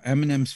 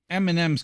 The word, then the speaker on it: Eminem: a c that's silent Eminem's kind of cool because it's spelled e-m-i-n-e-m so which isn't really M and M like the candy yeah it's pretty pretty catchy